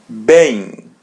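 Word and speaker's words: bem: Bang. Bang. Bang. As you see M comes in the end and there is E or A before. So we pronounce it as bang.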